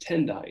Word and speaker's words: Tendai: Tian Thai mountains uh which is pronounced tendai in Japan right so Sideshow brings